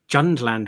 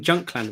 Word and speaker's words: Jundland: Tales the Jundland Waste. You know, I've always been saying Junkland Waste. I but thought it was no, Junkland. Yeah, me too. There's a D in it.